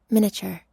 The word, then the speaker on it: miniature: computer miniature again again miniature miniature and also he said that the a is silent miniature that's not true it's that the i is silent i don't know why